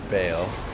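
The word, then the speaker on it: Baal: against elemental damage cuz ball can dish out a variety of attacks. And remember to keep moving. Saying low will help you dodge some of those nastier abilities. Uh, it's pronounced Bale.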